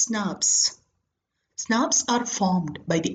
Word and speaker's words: snRNPs: nuclear ribonuclear protein particles snrnps pronounced as snaps Snaps are formed by